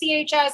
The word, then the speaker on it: Wachs: So it's Wachs, but it's pronounced like wax your back.